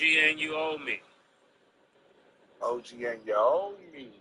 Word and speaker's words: Anunoby: Am I pronouncing his name right, Murder? No, it's OG and you owe me.